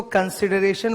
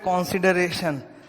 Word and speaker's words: consideration: इसको कंसिडरेशन बोलते हैं और इसको कॉन्ट्रैक्ट। कई स्टूडेंट लोग बोलते वक्त उल्टा कर देते हैं, इसको बोलते हैं कंट्रैक्ट एक्ट और इसको बोलते हैं कॉन्सिडरेशन। तो गलत प्रोनाउंसिएशन है भाई, कॉन्ट्रैक्ट एक्ट एंड कंसिडरेशन।